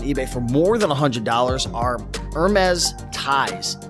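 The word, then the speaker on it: Hermès: gonna sell on eBay for more than $100 our mez ties it's spelled h e are m es excuse me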